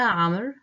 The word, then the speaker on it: عمرو: Yes, the waw in the name Amr is silent, and the alif in the definite article attached to madrasa is silent.